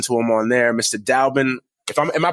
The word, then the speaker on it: Dalbin: Dallben if i am i pronouncing your name right row Dallben yeah yeah actually you know what you are